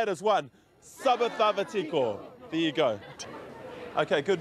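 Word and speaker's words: Sa vacava tiko: The one that I've learnt is Saba Thava Tiko. Say it again, everybody. Saba Thava Tiko. And now let's say it as one. Saba Thava Tiko.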